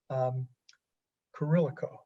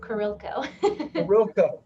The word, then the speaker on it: Kurilko: Blaskovic and also Kurilico. Did I pronounce that right? You're really close. Everybody always messes up the I now. Kurilko. Kurilko.